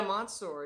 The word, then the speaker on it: Monseur: Monsuer, which I'm pronouncing correctly, right? Yeah, Monseur, yeah.